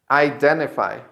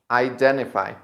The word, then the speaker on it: identify: So the mistake is that some people say identify, but this letter in English is pronounced I.